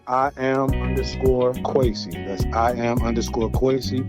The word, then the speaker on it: Quasey: That's I am quoasy. Quasi is spelled qu u a s e y.